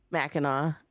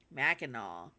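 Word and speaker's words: Mackinac: Minac Meno. Meno. The C is silent at the end.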